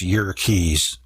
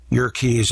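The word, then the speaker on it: Yerkes: Dr W hiltner of York's Observatory actually it's your keys Wikipedia says to pronounce it that way your keys Observatory found that the light from certain stars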